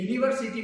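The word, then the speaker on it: university: क्या डिफरेंट है कि यूनिवर्सिटी में जब उसका प्रोनाउंसिएशन, उसका उच्चारण करते हैं तो क्या होता था कि आप य उच्चारण करते थे, ये य था और य क्या था? व्यंजन था।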